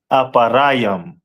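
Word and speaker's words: אפרים: And in Hebrew it is pronounced as aparam.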